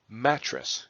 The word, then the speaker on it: mattress: has both syllables stressed whereas mattress is a fray is a word that has just the first matte syllable stressed whereas tres does not listen to it again mattress you hear that Matt tres matte is where Matt is emphasized stressed and tres is not so when you rhyme